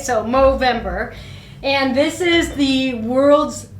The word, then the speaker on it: Movember: are you pronouncing No Movember with an M? Because the charity is called Movember with an M. The rest is November, right? So Movember and this is the